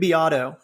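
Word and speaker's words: Beato: chorus it sounds identical and uh Rick Rick biato uh it's spelled it looks like beo b a t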